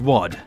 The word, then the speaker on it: WAD: and yes it's pronounced wad like harry enfield talking about money oh you shut your